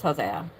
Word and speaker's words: Hosea: Yosha the or actually sorry Hos Hosa which is actually I think it's just pronounced Hosea the son of Nun